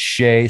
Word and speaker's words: Shay: And actually, I said her name wrong. It's Shay.